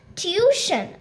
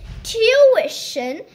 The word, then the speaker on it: tuition: next time okay but honey sweetheart it's not tution I'll teach you three pronunciations the British British and Indian pronunciation is tuition and the American pronunciation is Du so let's